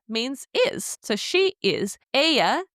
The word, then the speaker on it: ella: Aya is spelled E L L A just like the name Ella in English.